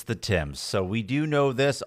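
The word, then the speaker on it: Thames: and emailed on about how we pronounce the river Tames and and a bunch of other things. It's the Tims, Kim.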